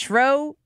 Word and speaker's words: Schroer: It's Schroer.